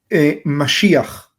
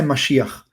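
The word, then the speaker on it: מָשִׁיחַ: de la palabra hebrea Mashiach. ¿Sí? En hebreo aparece Mashiach. Como para los habla hispanos es difícil pronunciarlo Mashiach, entonces ustedes lo conocen como Mesías.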